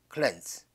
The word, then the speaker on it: cleanse: 그 다음에 동사로 쓰인 단어인, 자, 이 단어는 요게 에 발음이죠. cleanse.